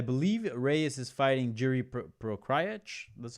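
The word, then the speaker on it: Procházka: I believe Reyes is fighting Jiri Prochazka. That's how you say his name. Let me. Prochazka. Whatever, however you pronounce the Czech guy, however you pronounce his name.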